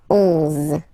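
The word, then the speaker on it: onze: 11, okay, so O plus N give you the sound on, on, 11, 11, okay, final E doesn't exist phonetically, 11, okay, 12, 12, O,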